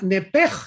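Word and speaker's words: נפש: Pero aquí la palabra alma es la palabra nepej en el hebreo, nepesh se escribe.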